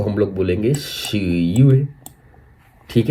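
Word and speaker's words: 十月: अब अक्टूबर को हम लोग चाइनीज में कहेंगे शी युए।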